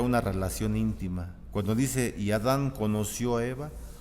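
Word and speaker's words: ידע: De la derecha a izquierda, pero se pronuncia yadá, con Y, yadá, acento en la segunda A.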